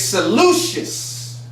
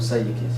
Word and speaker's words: Seleucus: This next heathen's name is Seleucus.